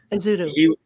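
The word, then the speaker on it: Ezeudu: Josh Uzudu, is that how you say it? Yep. Uzudu.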